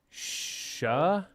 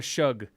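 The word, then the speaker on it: Shough: Shuck. It's Tyler Shuck. Tyler Shug. Nope, it's Shuck. There's a G. There's no K. I understand. I know how it's spelled. It's Shuck.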